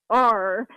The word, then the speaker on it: Pelletier: So it's Pelletier, like a French pronunciation.